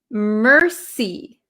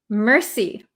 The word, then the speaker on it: mercy: So this word is pronounced mercy. Mercy. So if you know French, how they say thank you is merci, merci. This word in English is we have a strong R sound, mercy, like I see.